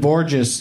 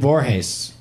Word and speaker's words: Borges: his name wrong but it's not Desmond Borges is Desmond Boras you don't you don't lay into the G like I did every time in front